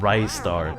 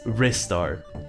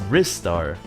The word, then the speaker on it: Ristar: that reads literally like by the way it's not rice art it's it's wrist art but it's the the small eye because of the Sega um well not because of the Sega person uh but that that is the argument that was defended by a Sega Yeah. Employee that he's using his wrists. So, it's wrist star.